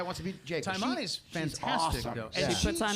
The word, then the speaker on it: Taimane: Tamine. She's from here. Oh, Taimane. Taimane.